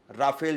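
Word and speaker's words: Rafale: बड़ी कीमत चुकाई है राफाल विमान के लिए देखिए दोस्तों सबसे बड़ी बात ये हो जाती है क्योंकि राफाल विमान को जब खरीदा गया राफेल जिसको कह देते हैं राफाल भी उसका प्रोनाउंसिएशन है तो उसको जब खरीदा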